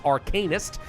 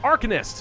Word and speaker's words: Arcanist: I also would have preferred to pronounce the new class as Arcanist, but I've been specifically told that it's pronounced Arcanist in this game, because they're clearly masters of the Arcan.